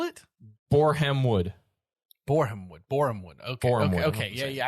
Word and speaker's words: Borehamwood: What league is Boringhamwood in? Boringhamwood? Spell it? Borehamwood.